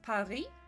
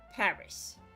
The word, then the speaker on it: Paris: English is so weird because in French it's Paris, in Swedish it's Paris, so it's still punctuated on the I, but in English it's Paris, and you punctuate the A.